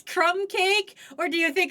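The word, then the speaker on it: krumkake: I want to know, do you think that word is pronounced kum crumbake? No, it's crumb cake. Are you sure it's not crumb kakeake? Uh crumb kake.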